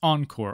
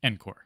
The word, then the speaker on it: ENCOR: Note that you might hear the exam name pronounced as ENCOR also. That seems to be the standard pronunciation. However, because ENCOR stands for Enterprise Core and not Enterprise Core, I prefer to pronounce it ENCOR.